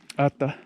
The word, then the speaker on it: Atha: And even though it's spelled T-H-A, Atha, it's not really a hard T, but it is the ha, it is the tat, also that out-breath.